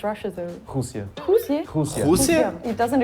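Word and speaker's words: Rússia: How do you pronounce Russia though? Husia.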